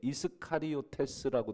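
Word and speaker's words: Ἰσκαριώτης: 것이냐라고 했을 때 원문을 찾아보면이 가롯이라고 되어 있는데 이스카리오테스라고 되어 있습니다 원문에 보면 이스카리오테스 근데 우리말로는 가요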